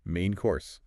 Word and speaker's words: main course: Main course. Stress on both words.